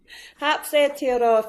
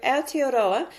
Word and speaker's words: Aotearoa: How do you pronounce that and what is it all about? Hioroa Foundation. So Aioroa means the land of the long white cloud